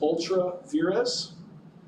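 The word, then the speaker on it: ultra vires: in America it's pronounced Ultra VZ it's spelled U LR UL t a v s it is one of those legal Latin terms it translates to without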